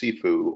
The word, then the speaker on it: CFOO: Finance Outsourcing or csfo and see sifu or pronounced sifu or CFO Specialists the combination of CFO and